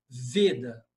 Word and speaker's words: Veda: Veda, tá? A pronúncia é veda. Em português, veda, mas em sânscrito, veda. Com o e fechado.